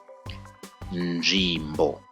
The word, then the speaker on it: nzvimbo: I know this is quite a difficult consonant to pronounce in Shona. nzvimbo, nzvimbo.